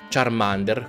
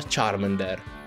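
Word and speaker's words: Charmander: ma giusto per puntualizzare charm ender non si pronuncia charm under come dicono nel doppiaggio nuovo dell'anno si pronuncia sharman der infatti solo me viene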